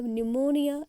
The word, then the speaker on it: pneumonia: During a न्यूमोनिया epidemic, PNEUMONIA, न्यूमोनिया। निमोनिया when I से एन से spelling शुरू नहीं हो रही है, आप ध्यान से देखो, पी से शुरू हो रही है, पी साइलेंट है।